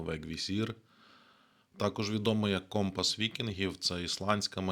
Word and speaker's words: Vegvisir: інша назва вегвісір читається англійською так само вегвісір також відомо як компас